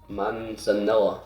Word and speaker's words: manzanilla: viscous mouthfeel is springbank manzanilla manzanilla that's how you say it four-year-old uh 57.9 that's